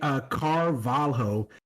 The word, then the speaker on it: Carvalho: I mean, the easiest way, if you see LH in any Portuguese whatsoever, Yeah, you pronounce it more as a Y. You know how in Spanish it's double L that's pronounced as a Yeah. Y? yeah. Mhm. For Portuguese, it's LH, Nice. basically.